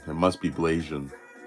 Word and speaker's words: Blasian: So I just realized it's not pronounced Blaxian. It's pronounced Blasian. It must be Blasian.